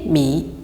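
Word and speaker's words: 米: Un autre exemple, le riz, c'est mi. Mi. Le ton se place sur la voyelle I et se prononce I comme en français.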